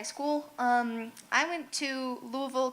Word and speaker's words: Louisville: um I went to Louisville Kentucky yes that is how you pronounce it to study spinal cord